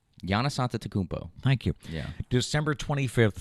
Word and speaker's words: Giannis Antetokounmpo: Giannis Antetokounmpo. Thank you. Yeah. December 25th, starting at 2. It would really suck if I'm pronouncing that wrong.